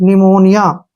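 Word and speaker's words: pneumonia: कहते हैं हम तो यह ध्यान रखना है कि एन से पहले प है तो पी साइलेंट रहेगा अब जैसे नेक्स्ट वर्ड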